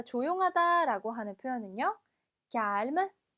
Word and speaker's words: calme: 자, 조용하다라고 하는 표현은요, calme, calme. 자, 그래서 cal까지 발음했다가 뒤에 m를 붙여주시면 됩니다. calm이 아니라 calme가 발음해주시면 돼요.